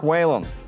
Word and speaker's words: Whalum: And thank you for saying Whalum. It's funny, the way my name is spelled, I get all kinds of things.